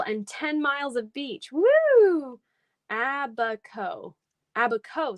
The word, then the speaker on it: Abaco: 10 miles of beach abaco abaco so no s sound abba ko did i say it